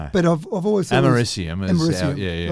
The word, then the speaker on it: americium: So, because it's got a C in the middle of it there, which you wouldn't say a K sound to, but I've always thought americium.